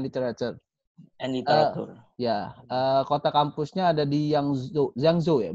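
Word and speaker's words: 扬州: Kota kampusnya ada di Yangzhou ya? Bacanya Yangzhou, bener ya? Yangzhou. Yangzhou. Aduh, saya di Taiwan tapi bacanya masih salah, Yangzhou.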